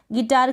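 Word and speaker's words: guitar: इस तरीके से GITAR गिटार की स्पेलिंग नहीं लिखेंगे। आपको जी के बाद यू तो लगाना है लेकिन इसको प्रोनाउंस नहीं करना है, गिटार।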